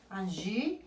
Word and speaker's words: Angie: Angie, c'est comme ça. Angie. Yo no pronuncio la E. Acordémonos que la E, no suena la E, si no va con acento, no puede sonar. Entonces, yo llego hasta la I.